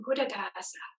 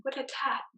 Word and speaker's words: Buddhadasa: One of the other famous teachers from Thai Theravada traditions, who's known internationally, Ajahn Buddhadasa. In Thai, he's called Ajahn Buddhatat. So same, but pronounced a little bit differently.